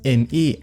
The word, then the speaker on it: Me: Dabei sagt Microsoft selber, zumindest laut einer offiziellen Webseite und dem Marketing so drum und dran, dass es wirklich Windows Me, also halt vom englischen Milch, ausgesprochen wird.